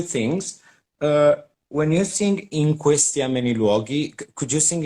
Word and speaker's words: in questi: the an in questi you don't have to say in and then questi because now i hear in questi like you you want to really pronounce the n but this and it's uh it's tied to the other word so it's in questi you you don't really pronounce the n it's not like in question it's in question okay you you want